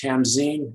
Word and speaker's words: Tamsen: donner and that is his wife tamsen sometimes pronounced tamzine why am i going